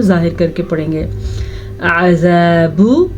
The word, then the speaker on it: عذاب: عذاب، آئین کے تلفظ کا دھیان رکھیے، با کو کھینچ کے نہیں پڑھنا کیونکہ با پہ پیش ہے.